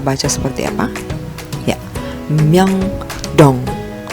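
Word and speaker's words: 명동: Kita baca dari miem, yo, dan ieng plus diget, o, dan ieng. Kita baca seperti apa? Ya, Myeongdong, Myeongdong, Myeongdong, Myeongdong, Myeongdong. Ya, ini nama tempat Myeongdong.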